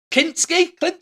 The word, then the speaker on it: Kinski: He was the Chatterer Cenobite in Hellraiser and Kinski, is that how you pronounce it, in Nightbreed?